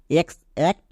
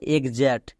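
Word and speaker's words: exact: এক্স জার্ড একে কেউ আমরা ভুল করে বলি এক্স অ্যাক্ট না কারণ এক্স এর জন্য এখানে গো এ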